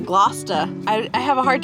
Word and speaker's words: Gloucester: She said not to pronounce the R and Glouester. It's like Glousta.